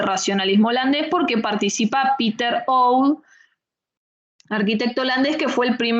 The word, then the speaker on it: Oud: LC, Mies, Gropius y Oud. Oud se escribe O-U-D.